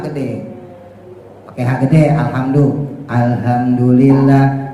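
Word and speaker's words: الحمد لله: pakai hak gede alhamdu alhamdulillah alhamdulillah itu hak gede Kalau hak tipis Arrahman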